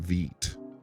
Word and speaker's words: Vite: do you pronounce Vite I actually pronounce it Veet like green wheat you see what so